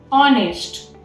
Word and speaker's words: honest: Next one is honest. Here the H is silent.